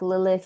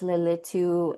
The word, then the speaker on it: Lilith: Um, there's like Lilith, Lilu, Leelu, um, different ways you can say her name.